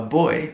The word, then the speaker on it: buoy: Now the origin of buoy up is actually quite interesting because a boy, which is pronounced exactly the same as boy, the opposite of girl, it's a float that